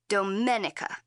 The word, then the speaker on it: Domenica: My name is pronounced in the Italian way, Domenica.